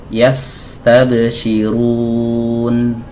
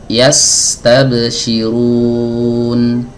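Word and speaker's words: يستبشرون: Saya akan baca yastabsyirun. Sekali lagi yastabsyirun. Bisa dibedakan aliran suaranya. Huruf sin aliran suaranya lebih panjang daripada huruf nun.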